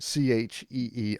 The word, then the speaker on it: qi: works by manipulating qi, Qi in parentheses, pronounced Chee on parentheses.